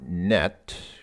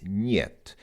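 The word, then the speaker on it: нет: It looks like het, but this is actually an N. But yeah, it's not net, it's "niet."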